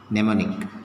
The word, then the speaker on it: mnemonic: okay mne mne ne mnemonic okay here m is silent okay now let's take